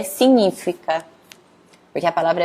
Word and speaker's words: significa: pronúncia correta que é signífica porque a palavra é bem parecida é a mesma aliás mesma palavra aqui português então tem que tomar cuidado aqui para não falar significa e falar signífica porque o g e